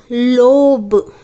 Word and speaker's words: lobe: And this is pronounced as long vowel O. Okay? It is not pronounced as a short sound. It is pronounced as a long sound. Okay? Now see. L, O, B, lobe. Lobe. Okay? O is having the long sound O.